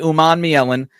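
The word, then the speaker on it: Umanmielen: So Princeley Oman Miellen uh to go along with a couple of other guys.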